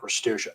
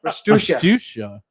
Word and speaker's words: Restuccia: I got told in high school by a teacher who was from Italy that we're pronouncing it wrong. I'm like, you know what? We're pronouncing it the American way Oh, there because we go.